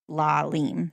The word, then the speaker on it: Lalime: And they said that there was a very famous NHL goalie named Patrick Lalime who pronounced his last name Lalime.